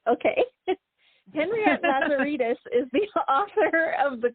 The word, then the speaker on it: Lazaridis: How do I pronounce your last name? Lazeritus. Okay. Well, I probably would have guessed right. Okay. Henriette Lazeritus is the author of The Clover House, which was a Boston Globe bestseller.